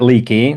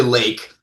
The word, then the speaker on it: Leake: Apparently there was a town outside of Yorkshire, England, that was Leake, and they pronounce it Lake. That's what I'm going with. That's what I've been told. And not leaky.